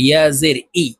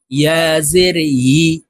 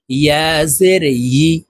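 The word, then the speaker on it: يِ: শুরু থেকে উচ্চারণ করি ইয়া জের ই এভাবে বলে থাকি প্রিয় দর্শক ইয়া হরফের উচ্চারণ জিহ্বার মধ্যখান থেকে করতে হবে ইয়া জের ই আপনারা আমার সঙ্গে বলুন ইয়া জের ই ইয়া জের ই প্রিয়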